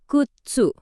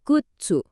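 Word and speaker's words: 靴: Dalam bahasa Jepang kita sebutnya kutsu. Dibacanya kutsu. Coba deh ikutin saya.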